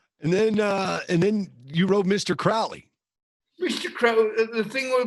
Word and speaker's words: Crowley: His name's Crowley, not Crowley.